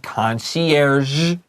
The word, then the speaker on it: concierge: Now, a concierge is a tricky word to say. It's French. 这个就是法文. So let me say it again for everyone. Concierge. It has that z at the end.